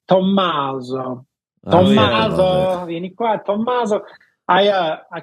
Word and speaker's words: Tommaso: Is that how you pronounce it, Tommaso? Yeah, my Italian counterparts, it's like they really pronounce the double M. It's like Tommaso.